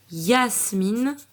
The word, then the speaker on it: Yasmine: Voici deux prénoms de filles où la lettre Y va se prononcer comme une consonne. Donc on va entendre Y. Yasmine, c'est un prénom arabe, et Yael, C'est un prénom hébreu.